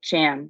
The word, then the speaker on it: Sham: Anyways, so thank you, Sham, not Sean. My WhatsApp really wants me to call Sham Sean all the time.